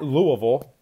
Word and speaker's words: Louisville: State at Louisville 8:00 tip off uh at Louisville I hate saying it like that I know